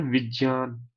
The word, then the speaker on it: विज्ञान: अब ये जो ज है इसका उच्चारण कैसे करते हैं, ये बना है ज और य को मिला के। ठीक है जी, लिख लीजिए। ये बना है ज और य को मिला के, आधा ज और य, इसीलिए इसको ज कहते हैं विज्ञान। तो हम जब उच्चारण करते हैं ना विज्ञान, तो वो अशुद्ध है हिंदी में। हिंदी में क्या होता है, विज्ञान।